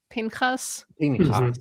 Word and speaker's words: Pinchas: This is a follow-up to their comment that they still pronounce it as Pinchas. The way it's written in Hebrew. Partially because one of my rabbi friends and I made Pinchas kebabs for 1 year for that particular reading.